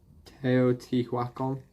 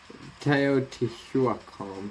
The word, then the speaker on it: Teotihuacan: excuse my pronunciation but i'm pretty sure it's pronounced or something like teotihuacan pretty sure is the pronunciation but i might